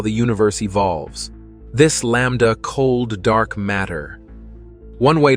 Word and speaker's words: Lambda: which is represented by the Greek letter l pronounced Lambda plug values for L